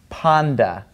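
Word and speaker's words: πάντα: in front of it it becomes a D sound like dog in English all right so this word is actually pronounced Panda all right so ooy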